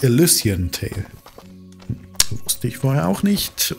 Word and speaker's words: Elysian: Im Vorspann hat man eben schon gemerkt, gehört, dass Illusion Tail wahrscheinlich von mir falsch ausgesprochen wurde. Oder ausgesprochen wurde. Richtig heißt natürlich Illusion Tail.